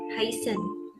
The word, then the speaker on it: heißen: Ini ada huruf yang bentuk-bentuk seperti huruf B itu dibacanya S, jadi heißen. Nah, kalau ada E sama I itu dibacanya I, jadi ini bacanya heißen, artinya pertama.